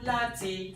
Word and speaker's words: láti: Mo wá láti. Mo, neutral, nothing there. Wá, up. La, up. Ti, neutral.